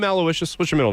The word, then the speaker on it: Aloysius: Aloucious. Vicious. Not even close. No. Not even close? There's an X in there, I believe. Aloysius.